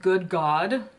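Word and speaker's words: Good Gawd: This one is called Good God, but it's spelled like God, G-A-W-D.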